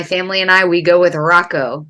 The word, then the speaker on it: Hracho: But my family and we go with Rocco. Both the H's are silent, so we're kind of like Rocky.